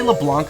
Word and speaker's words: LeBlanc: Did I say LeBlanc originally? It's LeBlanc. You don't pronounce the C.